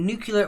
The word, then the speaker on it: nuclear: What name is given to the physical disintegration of a nuclear reactor's core?